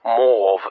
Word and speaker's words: mauve: Perhaps the most famous example is the invention of mauve or mauve as it was originally pronounced by the Victorians invented in the in the 19th century by inventor known William Perin.